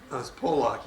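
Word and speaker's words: Pollock: I said you Dr poock delivered me poock p o l l o c k poock poock yeah poock way they pronounce it poock I'll tell you you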